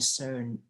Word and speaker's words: certain: I was often asked by my class teachers to explain a certain ตัวนี้อ่านว่า certain Certain. ไม่ออกเสียงตัว T certain math problems to them.